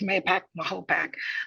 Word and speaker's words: Mahopac: I am I'm a library assistant in the youth service area of our Mahopac Public Library, is how it's Mahopac. That's how it's pronounced.